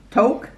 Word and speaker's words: toque: would you get that rhymes with poke look toque spoke yoke joke coke folk and smoke what did you get